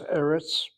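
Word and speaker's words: ארץ: She has eretz. Eretz, the accent that's on that first syllable, as she indicates whenever there's an accent, not the last syllable, she puts that marker there.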